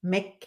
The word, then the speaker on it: McCabe: is Caroline and my today's guest is JD mape and I hope I pronounce it right hello and welcome to the